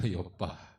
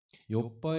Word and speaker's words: 욥바: 요 바에 여기 지역은 욥바 줘 발음 잘 아세요 오빠가 아니고 그 욥바 욥바 2 의 몇이 저사람